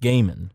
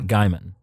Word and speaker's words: Gaiman: Neil Gaiman is pronounced Gaiman, not Gaiman. Okay. So think it's gay men, not guy man, because guy man would be redundant, and he's a writer, so he knows better.